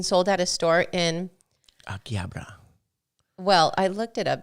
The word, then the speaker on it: Akihabara: Akihabara. Well, I looked it up because we always say Akihabara. Akihabara.